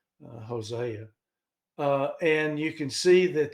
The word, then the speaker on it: Hosea: here to Hosea uh Jose is what some people pronounce it but it's actually Hosea and you can see